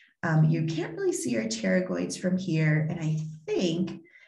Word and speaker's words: pterygoids: the masseter and the pterygoids the p is silent uh here are the